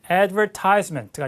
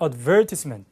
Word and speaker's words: advertisement: Did you see the advertisement layout of the 일단 발음 하나 힌트를 드리면 호주나 영국 영어는 advertisement가 아니라 advertisement 이렇게 돼요.